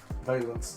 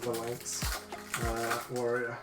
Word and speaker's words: Valence: valence there we go i've been saying it wrong the whole time valence not the lengths okay on to the